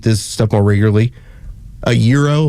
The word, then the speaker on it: gyro: So interesting that y'all both pronounced the word right, gyro.